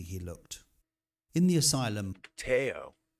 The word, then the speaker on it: Theo: looked in the asylum tayo tayo not theo teo i didn't eat okay